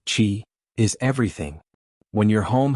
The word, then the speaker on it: qi: In Feng Shui, energy, or qi, pronounced qi, is everything.